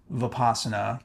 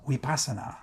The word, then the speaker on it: Vipassana: going to be teaching vasana which in the ancient language is pronounced weasa as best as I can pronounce it the V is more of a w sound U that language is